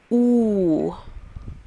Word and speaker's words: u: oh I get it the letter U is not pronounced like you but pronounced ooh as an ooh he's